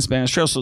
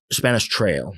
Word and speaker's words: Spanish Trail: It's Who else lives in Spanish Trail? So let's talk about some of those famous people that live in Spanish Trails. Is it Trail or Trails? Spanish Trail. Okay, because I keep saying it wrong, right?